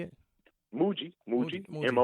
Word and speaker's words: Mooji: to mood Mooji right how you say it Mooji Mooji mo o ji I'm gonna go back